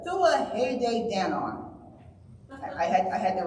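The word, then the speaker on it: Tuatha Dé Danann: I mangle this the I always thought it was pronounced tuatha danan but apparently it's the thua Danon I had I had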